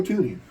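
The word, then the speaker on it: Thuney: Joe Tuni. Ah, Joe Tuni. Um, remembering how to spell it. T. Oh, yeah. Freaking Yeah. T. The freaking H is silent.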